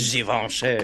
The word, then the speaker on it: Givenchy: You gotta really, Givenchy. you gotta get really French with that one.